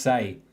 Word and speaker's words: Sai: So, Say, is it Say? All right, thank you. Because I've been pronouncing it wrong. Say. All right. Yeah, it's pronounced Say.